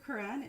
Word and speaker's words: Koran: on this crowd because his name is spelled Koran. He is not Muslim, but Dr. Quran is a dear person.